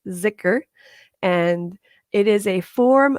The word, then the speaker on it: Dhikr: One is called zikr, and it's spelled Dhikr, but it's pronounced zikr.